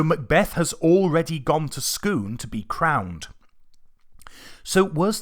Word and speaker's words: Scone: gone to Scoon and it is pronounced Scoon not scone or scone Scoon it's an actual place